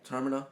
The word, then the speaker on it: Termina: Termina. Think terminal without the AL. Okay. Talking to all the people that are in Termina and finding out their backstories, whereas Pete is going around and he's fighting enemies.